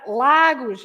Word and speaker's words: Lagos: Lagos yes Lagos the every time you have a word without accents the general rule because I'm going to speak about the third rule but the general rule is you stress the syllable the sound that is before the last one okay even if you